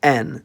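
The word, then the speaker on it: Н: all know it as N. It's used in every Cyrillic script using language, and it makes the sound n.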